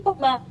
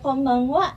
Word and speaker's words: konbanwa: Hati-hati konbanwa tulisannya sama N seperti konnichiwa. Ini hampir mirip seperti M.